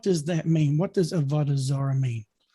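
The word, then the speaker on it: עבודה זרה: the hebrew in the hebrew the word is avadazara and write this down on your pads and i'll spell it for you av o d a h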